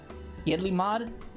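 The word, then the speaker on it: Yedlihmad: Holy shit, I don't even know how to pronounce that. Yidlmod?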